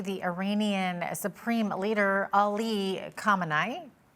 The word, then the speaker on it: Khamenei: As you said, Supreme Leader Khamenei, you actually pronounced it pretty accurately.